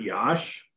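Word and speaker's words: Iași: can they pronounce it yosh what's that they pronounce it yash well that's the best i can do i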